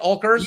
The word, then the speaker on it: Oelkers: Do I pronounce it right? Oelkers?